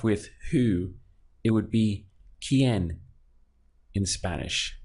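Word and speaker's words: quién: who it would be quien in Spanish so we have this qu I pronounced as key and then en pronounced as n so the quien quien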